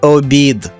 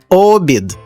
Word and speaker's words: обід: замок перетвориться на замок А це смачний обід та перемістивши наголос на перший склад ми перетворюємо його на обід колеса А це квітка